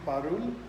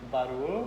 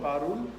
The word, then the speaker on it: Parul: pronunciation of your name So, again? have a look. I'm Parul. Barul. Parul, P-A-R-U-L, Parul.